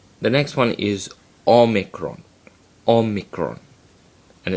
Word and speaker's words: omicron: next one is omegron omikron and it's pronounced o as in not o micron and as you will